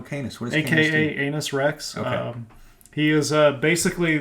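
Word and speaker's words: Canis Rex: I believe it's pronounced Anus Rex. Is it Anus Rex? It is Anus Rex. Way. That's hilarious. All right. The C is silent.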